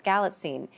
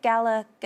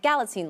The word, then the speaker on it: Galitzine: pronounce his last name now we know it's galine and so one day someone's like so it's Nick Gala G and I'm like galine like magazine and he goes oh